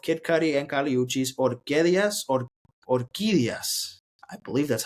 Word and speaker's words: Orquídeas: Kid Cudi and Kali Uchis, Orquídeas.